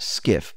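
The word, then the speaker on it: SCIF: for a sensitive compartmented information facility and it's pronounced skiff but it's spelled s c f now SKS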